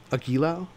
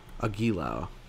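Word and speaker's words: Agilao: it uh maybe Persona nerds can help me pronounce this word aquilao great so I pronounced it three different uh three different ways and not one of them was correct perfect love it agilo cool thank you Moriarty back to chica here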